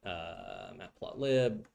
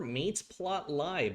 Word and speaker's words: matplotlib: import Seaborn and import matplotlib. Okay. Or mateplotlib, depending on how you pronounce it.